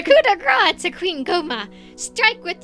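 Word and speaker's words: coup de grâce: grace to wow french we did not know how to pronounce that as kids the coop de grace oh my goodness that's terrible the coup de grace a queen coma strike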